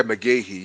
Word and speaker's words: McGaughey: yeah, McGahee, yes.